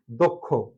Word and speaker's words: দক্ষ: শুরুতে অ প্লাস পরেরটা যদি ক্ষীয় হয়ে থাকে তাহলে তাহলেও অধ্বনির সংবৃত উচ্চারণ হবে। দয়ের সাথে অ আছে, তারপর আছে ক্ষীয় খ। আমরা কখনো দক্ষ বলি না, কি বলি? দক্ষ। দক্ষ।